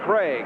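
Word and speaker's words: Krieg: There is young Dave Craig. K R I E G, but pronounced Craig.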